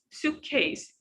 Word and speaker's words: suitcase: And we don't stress on the second part because we have the first part, suitcase, suitcase, suitcase. This is the strongest word. We stress on it.